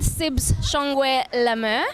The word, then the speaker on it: Sibs Shongwe-La Mer: I'm here with Sibs Shongwe-La Mer.